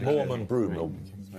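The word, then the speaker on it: Morand: Usually pronounced broom, but Mor and broom is what I was looking for.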